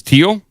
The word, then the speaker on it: Thiel: I believe it's teal, by the way. It's teal. Yeah. Okay. Not the I I the H is too much. H is silent.